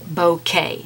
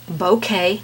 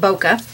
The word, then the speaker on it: bokeh: say bo k so it is pronounced bokeh not boca uh just so you